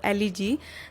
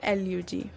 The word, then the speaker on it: elegy: एल्यूजी की spelling ELEGY, जिसको generally हम गलत प्रोनाउंस करते हैं एज एलिजी, that is wrong. इसकी जो करेक्ट प्रोनाउंसिएशन है वो है एल्यूजी।